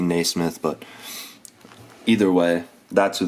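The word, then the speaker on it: Nesmith: option here is uh aaron nee smith i believe that's how you say it it could be naysmith but either way that's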